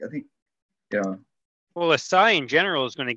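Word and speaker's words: Açaí: All right, I didn't really play around with the I don't even know how to say it. ECI. Oh, the ACAI, Acai.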